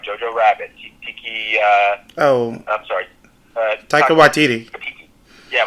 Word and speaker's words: Waititi: Talking about a substitute, I would have obviously put in, never pronounced his name right, Jojo Rabbit, I'm sorry. Taika Waititi. Yeah, Waititi, that's it.